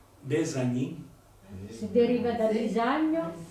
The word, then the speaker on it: Bisagno: E è in italiano una S sonora. Bisagno. Non è Bissagno, Bisagno. Sonora.